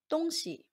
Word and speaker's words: 东西: chinese word si dong si has two pronunciations when referring to things the opinion is donxi when referring to direction which is east west it is don today we are going